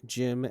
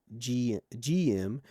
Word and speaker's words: GM: Additionally, the pronunciation of the GEM's name as Jim and not GM is possibly a parallel of sorts to the Zaku's alleged derivative Japanese term, Zako.